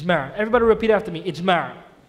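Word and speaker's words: إجماع: each man it's man everybody repeat after me it's Mary it's Mara if you want to spell it out since I am a and it's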